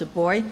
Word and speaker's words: buoy: learned we launched buoy where I come from we after pronounced a boy so buoy a new online resource